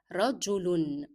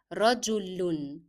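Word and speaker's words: رجل: Rajulun. Rajulun. So in the pronunciation of tanween with dhamma, you make the sound of lam and then connect it to un, the sound of double dhamma.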